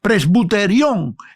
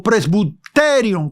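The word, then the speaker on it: πρεσβυτέριον: La palabra eh sería presbuterión en o presbuterium con acento en la de presbuterium en el griego.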